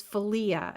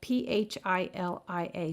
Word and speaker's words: philia: two more for you the third one is felia and that's spelled p-h-i-l-i-a philia and that's a brotherly love and that's